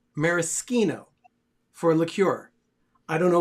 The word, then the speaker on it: maraschino: of unique items here this is it's actually pronounced maraschino for liqueur i don't know why but they